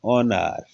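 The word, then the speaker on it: honour: silent over बोलते हैं ओ से पहले जो अच है यह क्या बोलते हैं ऑनर अच क्या हो गया साइलेंट इसमें देखिएगा एच ई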